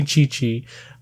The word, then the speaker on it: Qiqi: The character is Chi-Chi, which is spelled Q-I-Q-I, so it's Kiki kind of, but they say Chi-Chi.